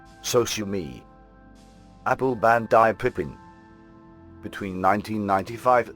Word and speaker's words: Sosumi: The sound for the Macintosh system was later renamed as Soumi to be said phonetically as Sosumi.